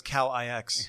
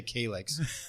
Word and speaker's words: Calix: friend of mine says Calix. Yeah I just say it's California. That's how you say it. That's the only way I could remember not to say Kix say you know think California.